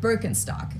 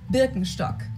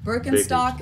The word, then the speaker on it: Birkenstock: So English speakers usually say Birkenstock. In German, we say Birkenstock. Birkenstock.